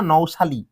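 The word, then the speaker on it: nouchali: তোমার শালি শাপলা তোমার শালি এর বৈজ্ঞানিক নামে দেখো লেখা আছে শালি লাস্ট শালি নিমফিয়া নওশালী আসলে নওশালি তোমরা শালি বলবা কোন সমস্যা নাই উচ্চারণের উপর মার্ক নাই মনে রাখবা শাপলা তোমার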